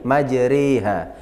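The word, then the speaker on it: مجراها: Nah, jadi ada pelajaran majreha, ya, bacaan imalah, artinya memiringkan harokat fathah pada kasroh. Orang kan kalau baca Al-Quran, kalau miring itu kan bisa kita bayangkan. Ya, orang kalau tidak punya guru ngaji biasanya bacanya Bismillahirrahmanirrahim. Imalah semua. Miring semua. Itu tidak boleh. Yang boleh miring itu cuma di satu kalimat ini. 30 juz cuma ada ini, majriha.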